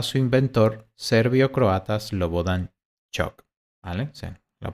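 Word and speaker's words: Ćuk: como Cook pero aquí faltaría como un apóstrofe sobre la c se pronuncia shock en honor a su inventor serviocroatas lobo Dani shock vale la pronunciamiento correcto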